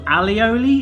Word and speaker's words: alioli: I think it's called aioli, but it's actually pronounced in the bottle alioli.